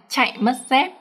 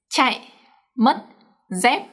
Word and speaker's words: chạy mất dép: But in this phrase, all the up tones are pronounced quite short.